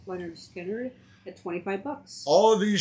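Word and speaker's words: Lynyrd Skynyrd: Leonard Skinner at pronounced Leonard Skinner at $25.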